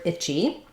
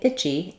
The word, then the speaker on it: itchy: and answer classes so looking first at the word itchy we have the chy combination and um if I'm saying itchy itchy um basically that CH and Y are their own syllable so my first syllable is I my second syllable is G Chi so I just go right from my CH sound into the E watch out in the